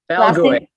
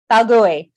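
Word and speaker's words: Balgooy: Balgoy. Balgoy.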